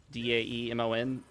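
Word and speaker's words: daemon: I know when it comes to the Linux kernel components that are spelled the same way, D- A M O N, they're pronounced Damon, but I think that's mainly to uh avoid offending Christians.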